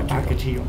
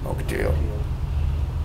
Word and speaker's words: Ocotillo: No, Ocotillo. Ocotillo. And spell that, please.